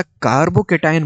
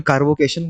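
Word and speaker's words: carbocation: What factor makes a कार्बोटायन more stable? अब कार्बोटायन कई लोग मजे-मजे में कार्बोकेशन बोल देते हैं। स्पेलिंग याद करने के लिए सही है।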